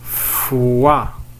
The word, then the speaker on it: foi: Alors le dernier son, nous avons foi. O plus I, on les prononce wa.